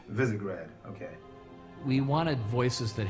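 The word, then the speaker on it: Visegrad: of characters brand new casting it's and it's pronounced visigrad visigrad okay we wanted voices that had character in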